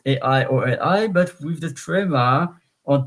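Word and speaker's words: aïoli: of the first I, because else it would be aioli, because A and I in the combination is A, like aimant, A-I-M-A-N-T. But aioli, so the I, the trema on top of the I. So trema, please pronounce me separately.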